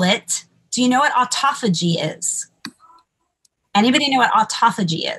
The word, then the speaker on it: autophagy: So autophagy, let me see if I can spell it.